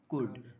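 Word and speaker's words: could: Past form of कैन, कुड, मे का past form कुल, क्या बोलेंगे, एक मिनट, सी ओ यू, हाँ कुड बोलेंगे, कुल्ड नहीं बोला जाता है, एल साइलेंट रहेगा।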